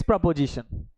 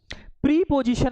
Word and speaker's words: preposition: प्रीपोजिशन मत बोलना, क्या बोलेंगे? प्रपोजिशन। प्रपोजिशन, right प्रोनाउंसिएशन इज प्रपोजिशन, ठीक है।